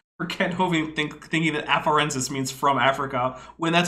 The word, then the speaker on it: afarensis: Afarensis, E-N-S.